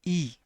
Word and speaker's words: y: Now this is not Y. You pronounce it like E. Whenever you see Y alone, we pronounce it as E.